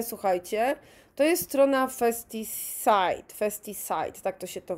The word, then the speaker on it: FestiSite: FestiSite, tak to się to wymawia.